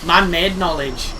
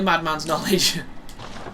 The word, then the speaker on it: Madman's Knowledge: it was DSP and he said it was man-made knowledge which I think it's madman I think I've been saying it right yeah that is definitely madman's knowledge well it's very easy